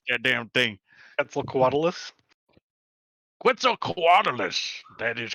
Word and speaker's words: Quetzalcoatlus: pronounce that damn thing? Quetzalcoatlus. Quetzalcoatlus.